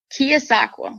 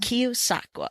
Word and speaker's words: Keosauqua: How do you pronounce the name of the town you're in? Keosauqua. Keosauqua.